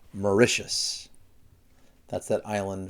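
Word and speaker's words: Mauritius: then we have and this is an interesting pronunciation morius morius I know it doesn't look like it but it's morius that's that Island right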